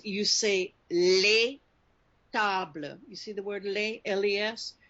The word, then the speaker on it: les: Right there it's pronounced like les, L-E-Y. But les amis, you hear the Z, les amis? Because the word ami starts with a vowel, you pronounce the usually silent S on the end of les.